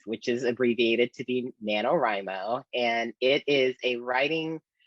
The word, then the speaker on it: NaNoWriMo: let me make sure i say it right nanowrimo did i say that that is correct yes